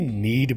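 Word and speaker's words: knead: के साइलेंट रहेगा, जैसे ज़रूरत में नीड होता है NEED, ये KNEED है, तो इसमें के साइलेंट करके नीड बोलेंगे, गूंदना।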